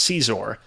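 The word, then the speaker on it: Xizor: uh for context I I believe it is pronounced Caesar uh the name of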